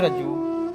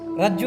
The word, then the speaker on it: ರಜ್ಜು: ರಜ್ಜುಗಳು ಇಲ್ಲಿಂದ ಇಲ್ಲಿಗೆ ಒಂದು ರಜ್ಜು ಇಲ್ಲಿಂದ ಇಲ್ಲಿಗೆ ಎತ್ತರ ಪೂರ ಎತ್ತರ ಇದರದ್ದು 14 ರಜು ರಜ್ಜು ಅಥವಾ ರಾಜು ಹಿಂದಿ ಶಾಸ್ತ್ರಗಳಲ್ಲಿ ಅಂದ್ರೆ ಹಿಂದಿ ಶಾಸ್ತ್ರಗಳಲ್ಲಿ ಸಾಕಷ್ಟು ರಾಜುನೇ ಬರುತ್ತದೆ ಅದು ಎಲ್ಲಾ ಕಡೆ ಕನ್ನಡದಲ್ಲಿ ಕನ್ನಡ ಉಚ್ಚಾರಣೆ ಒಳಗಡೆ ರಜ್ಜು ಅಂತ ಹೇಳಲಾಗುತ್ತದೆ ಇರಲಿ ಅದು ಹೇಗಾದರೂ ಇರಲಿ